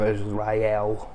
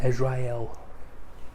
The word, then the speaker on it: Israel: Right, so Jesus, born as the King of Israel. That's not how you pronounce the word. That doesn't rhyme. Born as the King of Israel. No, it doesn't rhyme anymore. Just pronounce it Israel.